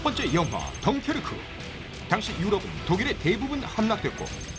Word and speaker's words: 덩케르크: 덩케르트 빼놓을 수 없을 것 같거든요. 완전 덩케르트라고 그러는데 네. 트예요. 덩케르크.